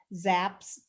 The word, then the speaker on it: Zapp: So it's Zapp, Zapp. It's a long A sound or A sound.